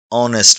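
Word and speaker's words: honest: एन ऑनेस्ट मैन यहां ऑनेस्ट में H silent है। आवाज आती है ऑनेस्ट इसीलिए एन लगेगा।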